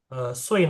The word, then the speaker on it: 岁: 岁 nada 4. 岁.